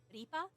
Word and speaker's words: Ripper: Yeah, one of my VTuber concepts was her name would be Ripa, but, like, spelled like Ripper.